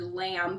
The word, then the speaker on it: lamb: words like for instance the word lamb comes to mind where the B is silent you you're going to